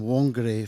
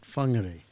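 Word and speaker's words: Whangārei: in I lived in wonger for eight years but they really pronounce it funger so every time there's a wh it's it's pronounced f which is [ __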